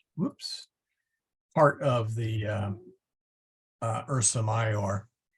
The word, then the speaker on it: Ursa Major: part of the uh Ursa mayor but you will often see it spelled or Ursa major and that's because um they uh they they uh in the uh later part of the medieval period and especially when the Advent of printing they tended to put the JS in there and of course